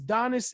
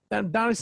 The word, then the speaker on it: Donis: And the company name is Donis Investment Group. Did I say it correctly? Donis Investment Group.